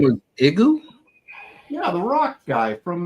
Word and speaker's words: Igoo: I don't know how to pronounce it. IGOO or is it LGO? Yeah. No, it's Igu.